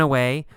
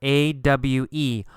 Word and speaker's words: awe: the word ah here a-w-e oh it's pronounced ah ah ah you don't actually say a w sound there's not AWA no